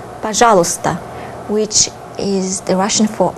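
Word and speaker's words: пожалуйста: the previous lesson and pajala pajala which is the Russian for please and read it carefully P if you read it fast you do not pronounce these two letters and you can also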